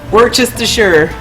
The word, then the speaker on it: Worcestershire: Worcestershire. I'm glad you say Worcester correctly, by the way, although the second part is pronounced sure.